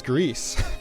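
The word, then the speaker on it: Gris: It's Greece.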